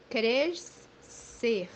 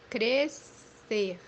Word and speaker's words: crescer: First one, when it's followed by vowels E, E, or in English, IE, it would be pronounced as SE.